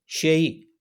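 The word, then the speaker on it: 谁: दो अलग-अलग प्रोनाउंसिएशन है, लेकिन इसका कैरेक्टर जो है वो दोनों का एक ही है। वो आपके सामने लिखा हुआ है। बहुत सारे चाइनीज़ इसको शेई पढ़ते हैं और बहुत सारे चाइनीज़ इसको शुई कहते हैं। ये दोनों ही प्रोनाउंसिएशन पूरे चाइना में बहुत ज़्यादा इस्तेमाल होते हैं।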